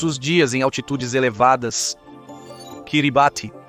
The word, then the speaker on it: Kiribati: Kiribati. E sim, é assim que se pronuncia.